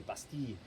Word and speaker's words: Bastille: known as the Bastille actually in French they say Bastide we Americans say Bastille so the Bastille was